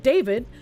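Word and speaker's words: d4vd: David, pronounced David, gained popularity among young fans for his blend of indie rock, R&B, and lowfi pop.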